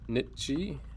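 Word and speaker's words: Nietzsche: z c h e it's not the nii obviously it's uh Nichi um but nonetheless he's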